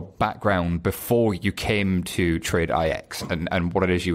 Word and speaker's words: TradeIX: I have the good fortune of being joined by the guy from TradeIX, as I now know it's pronounced.